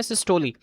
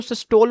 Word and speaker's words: सिस्टोली: इसको हम कहते हैं सिस्टोली। क्या कहते हैं स्टूडेंट? सिस्टोली कहते हैं। अच्छा अक्सर इसको सिस्टोल प्रोनाउंस किया जाता है। जबकि ये सरासर गलत है।